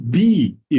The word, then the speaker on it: BE: name of the company is it be international or b e international it's be thank you and and